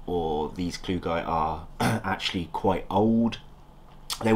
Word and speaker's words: klugii: Armadillidium klugi slano variant, also known as klugi or klugii. It doesn't matter how you pronounce it, I just say klugi.